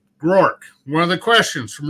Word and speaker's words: Groark: Like I'll say Matt, and then Groark. Like I'll just spell it. I won't even say it. You know, a lot of people turn it into a two syllable name. It's Groark.